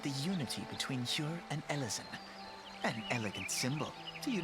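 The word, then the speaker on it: Elezen: going to pronounce ellison is it ellison or elsin because again alvin isn't said eleven it's elven so i figured maybe ellison might be pronounced elsin but the difference is elvin is an adjective whereas ellison is well the noun so i guess that's that could explain why it's not said that way also you know different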